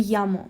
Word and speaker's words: llamo: argentinian spanish for example most spanish-speaking countries will pronounce double l as ye so you would say yo me llamo but if you're in argentina you're going to say show me ana i know i